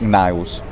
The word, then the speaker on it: Gnaeus: about the actual way to spell the name naius it's spelled cn for the exact same reason that